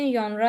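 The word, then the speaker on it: genre: इसकी प्रोनाउंसिएशन यन्रा है।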